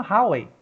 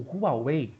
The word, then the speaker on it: Huawei: A China tem a Huawei, ou Huawei, para quem gosta de pronunciar de outra forma, né?